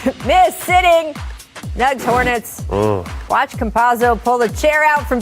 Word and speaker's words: Campazzo: Watch Campazzo pull the chair out from PJ Washington.